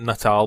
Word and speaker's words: Natal: I know they pronounced it Nutal, but I'm going to keep calling it Natal because that's what it looks like, and it's a really creepy image.